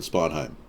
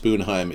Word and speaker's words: Sponheim: I am the real Sponheim, yes, but it's not pronounced Spoonheim except in Norway.